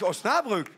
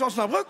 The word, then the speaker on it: Osnabrück: Das ist doch Oberhausen. Man sagt ja nicht Osnabrück. Es ist Osnabrück. Kalorien.